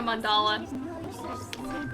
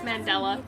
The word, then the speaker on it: Mandela: this feels like a mandala a it's Mandela it's not mandala I knew I was thinking of the correct thing but I pronounced it wrong um this feels like